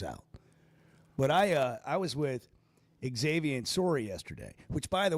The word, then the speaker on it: Xavier: When he first got here, I'm just going to tell you, I call him Xavier because I'm the same way you are. You don't actually pronounce the X, but he does.